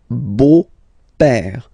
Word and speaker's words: beau-père: So père, okay, father, so father-in-law, okay, in French it's le beau-père, the beautiful father. Le beau-père. So remember this E-A-U combination of vowels only give you the sound O, beau, okay, le beau-père.